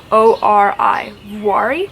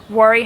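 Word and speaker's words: Vuori: now it is very i'm probably not pronouncing that right it's v-u-o-r-i worry leggings this is an athletic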